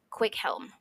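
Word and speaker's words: Cwichelm: that was very very common and it is pronounced quick Helm but it is I'll tell you how it's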